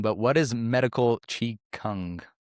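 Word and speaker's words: qigong: Chong, kong, chigun. It's like Beijing, pay king, paying. You know, the pronunciation of these Chinese things gets a little confusing, but in Japan they call it ki.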